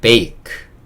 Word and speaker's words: bake: 끝 의 E 는 묵음 이므로 "bake" 입니다 .